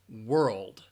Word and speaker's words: world: The next word, many people are confused with that RL, especially that RLD combination. World, world.